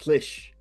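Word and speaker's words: Slisz: They said, or he said, they pronounced it Bartos Slish. Slish. Bartos Slish. Like a swish. Like slushy. Like a swish. Slish. Like S-L-I-S-H.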